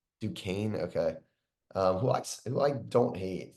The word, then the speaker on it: Duquesne: And looking at where they are playing Morehead State, then playing the winner of BYU and what how do you pronounce it? Duquesne. Duquesne, okay.